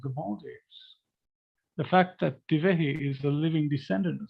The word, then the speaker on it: Divehi: you would pronounce wrong, you did pronounce it correctly. It is indeed Divehi.